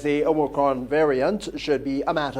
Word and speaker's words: omicron: variant which you know i know people are catching their tails to pronounce it properly it's omicron omega yeah um it's one of the letters of the greek alphabet so that variant the